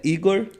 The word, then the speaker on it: Igor: Júnior Ribeiro, perfil @Igor, como se lê, né? Se lê como se escreve, né? Igor Rig, RIGGHI, e também, é claro, o @ da nossa produtora Desígnio.